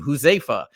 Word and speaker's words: Huzaifa: home with me, because I have a unique name, Huzaifa, right? And it's the same amount of syllables. It's 3 syllables.